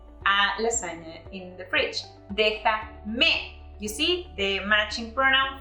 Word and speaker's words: déjame: Observe how we added un acento en la E, an accent mark on letter E. This is to preserve the original intonation.